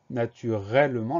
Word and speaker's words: naturellement: Une lettre muette, c'est le T à la fin de naturellement.